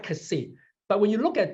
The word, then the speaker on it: Xi: We pronounce it KSI, Kasi.